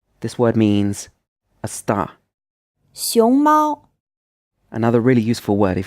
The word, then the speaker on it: 熊猫: 熊猫 Another really useful word if you're learning Chinese. The first syllable is in the 2nd tone, and the 2nd syllable is in the 1st tone.